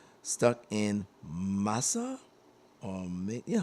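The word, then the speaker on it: Masai: And the the track I'm going to be transitioning to is called Stuck in Masa or Yeah, Masi. Uh it's spelled M A S A I.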